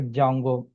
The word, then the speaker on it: Django: Django here d is a silent letter that's why we are calling like a jungo.